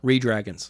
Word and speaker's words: reDRagon: That's how it's spelled. Redragons.